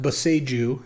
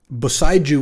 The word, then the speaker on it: Boseiju: All right, I'll probably just take Boseiju. See, the thing is, it's supposed to be pronounced Boseiju, is what I've been told, because it's a Japanese word. Boseiju would be like the